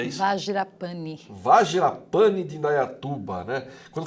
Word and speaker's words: Vajrapani: Agora, nesse bloco, eu trago a Andréa Aguiar, ela que é coordenadora do Centro Budista como é que se pronuncia isso? Vajrapani.